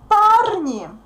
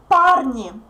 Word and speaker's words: парни: Look how we get the plural form. Пар. It it stays stressed. Then yeah disappears. The soft sign is replaced with e, so we get парни, парни, guys, young men, парни, парни.